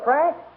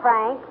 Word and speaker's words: Frink: Homer or Mr Frank okay Frank not Frank Frank it rhymes with well never mind what it rhymes with what the idea